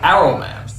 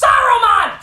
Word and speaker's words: Saruman: film though is for some reason they stopped pronouncing the S and simply call them arrow man why is the suddenly a bad word you idiot it's pronounced Saruman the answer isn't silent also how come Gandalf